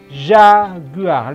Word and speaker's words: jaguar: itu contohnya Binatang ini Jaguar Jaguar kali bahasa Perancis dibacanya Zakiah lihat saya sudah Tandai